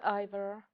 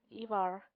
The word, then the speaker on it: Ivar: And this is Ivor. Oh, sorry, Ivar. I decided to pronounce his name as close to a Scandinavian pronounce version of pronouncing the name.